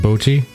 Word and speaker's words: Bochi: as I understand it, is pronounced Bochi. Like saying Bochi. Like her beau, like her sweetie, her boyfriend or whatnot. Okay. Her beau, and then chi.